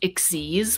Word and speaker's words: Xyz: And there's this new type of monster that's spelled XYZ, but it's pronounced Ixies, which is the dumbest thing I've ever heard.